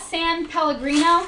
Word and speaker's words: San Pellegrino: And then these are, how do you pronounce this? San Pellegrino.